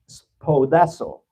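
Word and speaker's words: σπουδάζω: Así es de que la palabra solícitos viene de una palabra palabra griega que se se pronuncia así, spodazo y significa esto poner un esfuerzo máximo.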